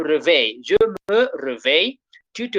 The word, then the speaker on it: réveille: Double L become Y and Y is E. Remember the E at the end is silent. So we say, je me réveille.